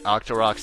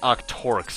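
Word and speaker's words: Octorok: years to realize the pun behind the octar roox name for some reason then again I thought they were pronounced Octor for years for some reason cuz you know they're octopi that shoot rocks oo Tech tites on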